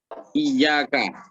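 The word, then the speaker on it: إِيَّاكَ: Ini cara membacanya harus pakai saddah diyaknya ya. Jadi iyaka gitu ya. Jadi nggak boleh hanya iyaka gitu, nggak boleh ya. Jadi harus pakai iyaka.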